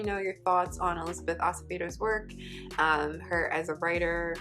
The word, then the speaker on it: Acevedo: come across a interview with elizabeth acevedo acevedo acevedo is how she pronounced her name i've ever come up with